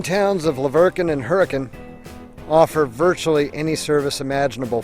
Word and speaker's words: Hurricane: handled windshield washers but even though the name of the town is spelled hurricane like the storm don't pronounce it that way you'll sound like a tourist around here it's hurricane there's even an RV